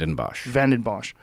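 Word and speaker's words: Vanden Bossche: Geert Vanderbosch? Am I Geert saying it correct? Vandenbosch.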